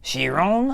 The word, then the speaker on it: Chiron: car to the Bugatti Chiron shiron I believe is how you pronounce it this is the